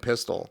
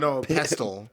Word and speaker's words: pestle: That means they take out a mortar and pistol. Yeah, What? A pistol with a gun? No, pestle. Pistol. I think I'm saying it mortar wrong. And pistol? Dude, I'm lost. Mortar and pestle?